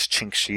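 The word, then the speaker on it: čhiŋkší: So the way I would say that is chinkshi is how you say son, and chunkshi is how you say daughter.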